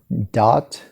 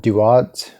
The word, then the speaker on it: Duat: in the older ones it's called dot it's also called duat duad or tuat and but in the earliest ones it seemed to have been more of a one syllable thing as budge correctly states